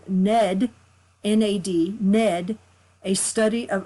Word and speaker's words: Nad: so it looks like nod you know because we're Americans and we don't know how to do our vowels but it's actually pronounced Ned and it comes from the Sanskrit but what these two